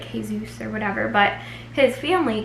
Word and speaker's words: Jesus: Jes us but um he's Puerto Rican and so I thought they would pronounce it like hey-zeus or whatever but his family calls him Kevin G so and I was thinking